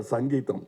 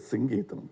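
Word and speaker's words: Singeetam: For once and all in Kodambakkam, there was always a confusion how to pronounce this name. In Tamil Nadu, he used to get very upset because they missed the Sangeetham. No, it is Singeetham, please.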